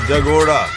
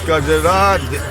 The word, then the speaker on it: Kajra: line next to it, which Tibetans have mispronounced as Jagoda. Jagoda, you put it upside down, Kajoda, Kajra. This is Kajra, Kajoda, Jagoda.